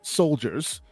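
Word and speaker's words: Souldiers: it Bears repeating this is a game called soldiers but pronounced with an spelled with an OU as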